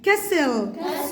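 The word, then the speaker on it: castle: جزيره الاي الاس سايلنت كسل التي سايلنت ساين الجي سايلنت.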